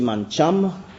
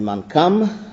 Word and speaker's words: Mancham: sir James Richard Marie ça se prononcit mancham il est d'origine chinoise et c'est devenu mancam le premier président du